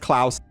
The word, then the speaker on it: Klaus: i pretty much mispronounced klaus this entire video so i know you guys are going to already read me in the column it's probably too late for that but uh it is pronounced klaus all right and welcome